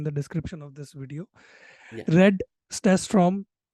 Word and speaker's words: Red Stafstrom: description of this video Read stats from I again butchered your name I'm sorry about that no you actually got it right like staff storm was